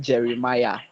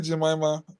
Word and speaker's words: Jeremiah: Jones, when you're pronouncing my name, you made a horrible pronunciation. It is Jeremiah. Yeah, Jeremiah. Thank you Oh, very much. sorry. Did I call you Jemima?